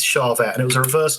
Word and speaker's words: Charvette: It's not a Char, Charette, which was something that Jackson and Char Jackson were doing. This is Charvette, and it was a reverse dinky um super strap."